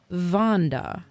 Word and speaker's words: Wanda: Bugs Bunny character and Wanda who pronounced her name vond okay the same way that Victor pronounces his name with a V instead of a w sound okay Victor says he's